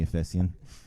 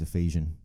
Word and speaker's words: Efesian: yeah unofficially so ogs you can call me a fesian but going forward it's Ephesian my mate uh one of my Mates is a teacher and he warned me with this project everyone's gonna pronounce it right um but wherever I go like people are pronouncing it Ephesian and grammatically it makes more sense as well so might as well